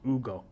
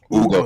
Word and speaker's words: Hugo: It's Ugo. Ugo. So the H is the H is silent.